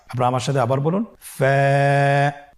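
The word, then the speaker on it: ف: ওয়া হামজা ইয়া হরফটি আপনারা স্ক্রিনে দেখতে পাচ্ছেন ফা হরফটি উচ্চারণের ক্ষেত্রে বারিক হবে এবং এক আলিফ টেনে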